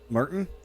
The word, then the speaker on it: Martien: Is it Martin? I'm assuming that's Martin. Although it's spelled Martien. Yes, it's Icelandic. Only a million more to go.